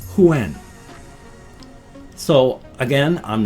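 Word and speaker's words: Yuan: to best pronounce it, because it's Y-U-A-N, a lot of people in, Western English-speaking countries pronounce that as Juan. But it's not. It's more like Huan.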